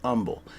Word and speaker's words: Humble: Houston called Umble Texas spelled humble but it pronounced Umble and there was a a little restaurant there